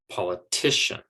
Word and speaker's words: politician: the big o's that politician has three syllables that are unstressed and one syllable the big one that's stressed and that stress syllable is coming the pen ultimate or the second to last syllable politician and so it's the t that gets the stress and then those other syllables are quieter quicker softer okay and they are said more quickly politician so instead of politician it's politician okay now attention okay attention